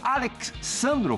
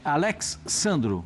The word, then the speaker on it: Alex Sandro: E aí, como é que se e pronuncia mesmo, Pascoal? Alex Sandro. Como é que é? É Alex Sandro.